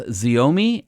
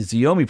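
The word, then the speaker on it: Xiaomi: CEO of Ford had a I guess it's pronounced zomi su7 SUV that was imported from Shanghai and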